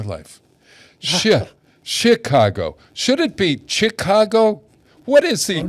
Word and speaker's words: Chicago: Should it be Chicago? What is the correct? What? No, I don't know. What? How does Chicago? Huh? It's soft C. Chicago. Chicago.